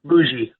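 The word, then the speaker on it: Mougey: from California to New York to go to this meeting with Aaron Glenn and Darren, how do you pronounce his name? Mugi. Muji.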